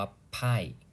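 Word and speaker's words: 派: พาย ไพ่ นะ ครับ ภาษา จีน อ่าน ว่า ไพ่ นะ ครับ ไพ่ แปล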